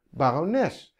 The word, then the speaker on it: barones: zeg ik waarom les ik zeg barones het wordt eindigt op ps dus dat hoort bij de treintje dat daarboven staat de klemtoon zit op de laatste dus ik krijg een